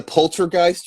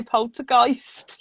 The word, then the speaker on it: poltergeist: It's because Dustin said it's like Christ. So now I'm like Polter, Christ, Geist.